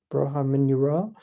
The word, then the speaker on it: Borja Mayoral: his name but it's uh broa mayel moror broha minur that's how you pronounce his name and it looks like have